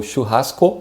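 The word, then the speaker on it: churrasco: in the beginning and you have this ha sound very strong in the middle of the word and the end is just o but in portuguese the o is a bit shorter so shu hasko and the other word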